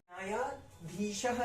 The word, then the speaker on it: न्यायाधीशः: वो होगा न्यायाधीशः, य के बाद एक और आ की मात्रा आएगी, न्यायाधीशः।